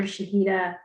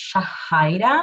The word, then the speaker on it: Shahida: to go to dr shahida now good evening everyone my name is actually pronounced shahidah sorry um thank you